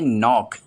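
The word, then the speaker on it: knock: पांचवा वर्ड है नॉक। इसे कनॉक नहीं पढ़ते हैं क्योंकि इसका के भी साइलेंट होता है और इसके मायने होते हैं खटखटाना यानी दस्तक देना।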